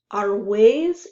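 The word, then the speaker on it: Argüelles: And Arwes is a neighborhood in Madrid. Okay, that's how you pronounce that.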